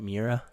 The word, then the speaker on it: Miura: like for instance there's like this one's called miura japan shout out am i saying it right mira yeah that it's basically just the average head